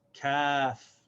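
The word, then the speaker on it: كاف: This is kaf. And this letter is pronounced exactly the same as the letter K in English. The name is kaf, and the pronunciation of the letter is k. The sound is k.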